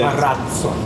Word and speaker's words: Marazzo: And we have changed it to Marazzo, and we have a D sound coming just before Z. Marazzo. So Marazzo.